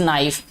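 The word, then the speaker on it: knife: तो please give me this नाइफ, नाइफ में देखें के साइलेंट है तो कनाइफ नहीं बोला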